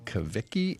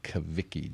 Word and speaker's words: Cavicchi: Malcolm White, Carol Palmer, Damen Kaviki, and Derek Emerson. Damian, how many different pronunciations of Kaviki do you get on a daily basis?